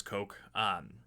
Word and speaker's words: Koch: the work of Robert Koch. You might hear it pronounced Koch or Koch. He's German, so it's Koch.